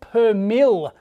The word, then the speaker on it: per mille: So in the power supply we saw, it was plus minus 2, not percent, it's per mil. So plus minus 2 per mil is the correct way to say it, basically.